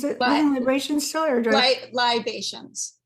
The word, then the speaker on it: Libations: Is it Living Libations still, or libations? Would you spell it Libations? Kind of like vibrations. No yeah, no R. Libations. Okay.